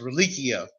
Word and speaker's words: religio: from latin meaning in the latin form it's pronounced relichio and reliccio means to connect and you say